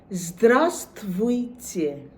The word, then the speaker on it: здравствуйте: প্রথমেই শুরু হচ্ছে জ, ঠিক যেভাবে আমরা জেডের উচ্চারণ করি ইংরেজিতে, বা মৌমাছি যেরকম জ বা বলতা জ, সেই zdravствуйте।